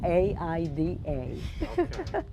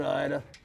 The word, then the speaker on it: Aida: be a rough one my name is ida a-i-d-a your name is ida but you pronounce it aida just like the storm that's what i do with ida ida and sid anderson